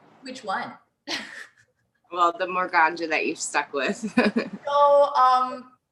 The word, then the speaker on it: Morganja: Yeah, people either say Morganja or Morganja, but I guess I say Morganja.